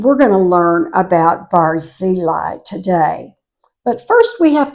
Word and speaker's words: Barzillai: be familiar with and he's a man called barili I usually say barili but I did check and it's supposed to be pronounced bareli so either way I say it you'll know